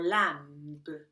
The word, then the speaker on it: lamb: the sound example lamb we don't say lamb or lamb we just mark it lamb lamb some words just ignore the letter B Mark your notes when the B is silent Deb a sentence with